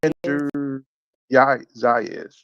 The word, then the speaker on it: Xander Zayas: Xander Xander Zayas.